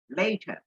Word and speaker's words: later: Cinnamon first originated in Sri Lanka and was introduced later. এই উচ্চারণটা খেয়াল করো, আমরা বলি লেটার, এটা হবে later to the world by the Arab merchants.